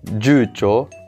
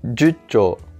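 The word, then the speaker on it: 十兆: Et pareil pour le 10 milliards, on dit non pas jucho, mais jucho, jucho. Icho et jucho sont les deux seules exceptions, et la prononciation ne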